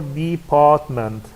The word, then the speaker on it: department: Department store, department, here we have compound noun, so the stress will be on the first word, on the second syllable, which is part, yes, and so on.